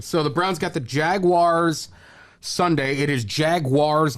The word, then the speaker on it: Jaguar: jaguar you say jagu I I say Jaguar Jaguar it's G is there a w in there Jaguar Jag no the u stand jaguar or you can be British and say jaguar how they pronounce the